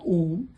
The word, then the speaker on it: Om: But when we speak Om, it is made up of two syllables. But when we chant, the sound is made up of three syllables: A U M.